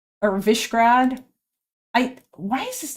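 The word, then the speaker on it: Višegrad: The S is pronounced like sh. Okay. Um Oh, so it's Vishagrad or Vishrad.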